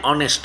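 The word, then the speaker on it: honest: বলেন তো তহলে এ অনেস্ট হওয়ার কথা কিন্তু রং এখানে এন অনেস্ট হবে কেন এখানে এইচ এর উচ্চারণ নাই যেখানে এইচ এর উচ্চারণ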